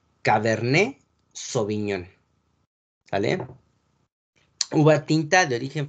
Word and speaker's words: cabernet sauvignon: la uva cabernet sauvignon latte no se pronuncia sale al final de la de las palabras francesas la t la el elefante y la s de serpiente no se pronuncia al final de las palabras francesas entonces la pronunciación es cabernet sauvignon la uva tinta de